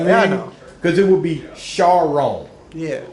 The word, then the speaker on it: Charron: into ours you know cuz it would be Shar oh yeah right growing up at elementary school I got everything like sharone Sharon I deserve Sharon that's it like you